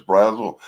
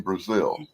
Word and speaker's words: Brazel: Everybody on TV always says Brazel, but the people I know who are related to him pronounce the name Brazil.